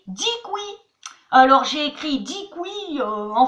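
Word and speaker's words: děkuji: Mais attention, si vous dites DQJ, les Tchèques, ils vont faire comme ça. Attention, ça ne se prononce pas du tout comme ça s'écrit. Ça se dit dikui.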